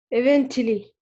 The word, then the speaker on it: eventually: T here is shah. Eventually. Yeah, eventually.